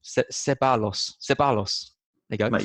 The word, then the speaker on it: Ceballos: got, I forgot how to pronounce his name, Ceballos. Ceballos. There you go. Mate, you told me you looked it up before this podcast. I did. I've panicked. I've forgotten. You bottled it. It's Ceballos.